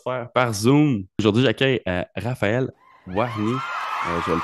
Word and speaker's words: Warny: Raphaël Warny, c'est le même que ça se prononce. Exactement. Parce qu'ici, on est fort avec les anglicismes. Là, j'ai failli t'appeler Warney.